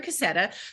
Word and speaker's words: Cassetta: a Community member who's really awesome um Jennifer cassetta am I pronouncing it right yep Jennifer cassetta who's written a book called The Art of